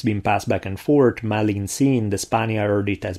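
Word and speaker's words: Malintzin: The natives would end up calling her Malinsin, because they couldn't pronounce the R in Marina, so it became Malina, and then the suffix Tsin, which was a sign of respect.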